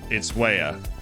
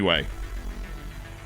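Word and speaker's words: Weah: yeah in the accent where george way is from itswaya but given that timmy way was born in brooklyn and americans just don't take the time to pronounce things in different languages he has and will continue to be called by all the us you know soccer pundits and coaches and it's timmy way but i know that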